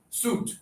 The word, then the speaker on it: suit: But the spelling ui No, it's not. No, this is suit.